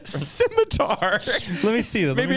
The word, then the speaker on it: scimitar: Is it Schmitter? Like a Schmitter. I'm probably not announcing it right. Scimitar. Let me see. Maybe it's pronounced Schmitter. I could be wrong. Schmitter. No, That's a C. Scimitar.